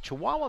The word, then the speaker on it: Chihuahua: Katia Garcia to serve again out of Chihuahua, Mexico. I had to confirm that that was the correct pronunciation.